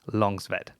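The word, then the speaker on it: Långsved: from victor longsweat and it's spelt with an a but that a with a little o above it that's kind of like an o sound so it is longzved so victor was part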